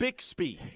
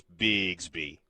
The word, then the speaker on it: Bixby: No, it is Bixby. It is Bixby with an S. And by the And by the way, you look like you were exerting so much effort to pronounce it that way as it's a bit at this point. It's a bit I pick up I picked up on the fact that Oklahomaans refer to it as bigsby.